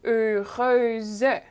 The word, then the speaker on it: heureuse: But for example, before the Z sound at the end of a word, we'll keep the sound. Okay, so heureux becomes heureuse. We keep the even though the final sound is a consonant here, we still keep the sound.